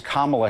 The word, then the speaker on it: Kamala: now he asked him why can't you just pronounce kamala's name correctly why do you guys say Kamala that is it's it's kamla Harris I just Jim I